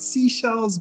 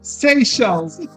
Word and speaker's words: Seychelles: in the maldives and prior to my trip i was pronouncing it seashells but i was corrected pretty early on seychelles yes and i will